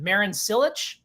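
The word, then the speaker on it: Marin Čilić: Is it Marin Cilic?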